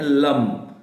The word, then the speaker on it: लं: लगता है आप करें लेकिन लम ही बोलना है ल ए एम इसके बाद में आपको